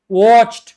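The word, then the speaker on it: watched: Pronunciation में इस तरह होता है, लेकिन ये टी जो है इंतहाई सॉफ्ट होती है, इसका अंदाजा भी नहीं लगता लोगों को अगर बहुत गौर से नहीं सुन रहे।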